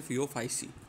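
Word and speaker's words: Phaeophyceae: इस बच्चों को भी, ये तो सी ए सी ई ए ई लगा है, सी ए ई बोल लेंगे इसको, ऐसा कुछ नहीं है, आप इसको बोल लोगे फियो फाइसी।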